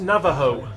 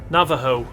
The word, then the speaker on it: Navajo: it sounds like uh i think in american india it's pronounced navajo navajo just let you know